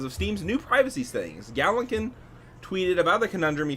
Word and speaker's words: Gallankin: 'cause I'm Gallankin. bad at it. The worst part is in my copy I wrote it phonetically. It still can't pronounce it. Gallankin. I wrote gal lawn like your front yawn lawnkin.